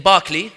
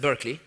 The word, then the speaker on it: Berkeley: example here one student in Barkley you guys pronounce it Berkeley he said to me